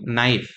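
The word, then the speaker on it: knife: आप कना बोलोगे राइट बट एक्चुअल में के यहां पर साइलेंट है साइलेंट का मतलब के का साउंड नहीं आएगा तो यह क्या होगा नाइफ अब आप फिर से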